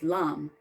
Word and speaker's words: Lam: L is Lam. Lam, like llama.